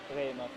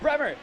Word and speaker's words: Bremer: talked to me and he said, please keep it to my English pronunciation. He thought that the pronunciation didn't sound as full as the English pronunciation did.